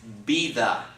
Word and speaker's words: vida: the word the so the word is not it's it's not Vita it's be tha okay be that a